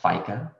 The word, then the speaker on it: FICA: Now, for those of you who are still working, you may recall seeing the acronyms FICA, pronounced FICA.